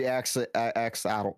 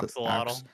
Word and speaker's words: axolotl: furry axolotl. Yep. How do you say that? How do you say Axolotl.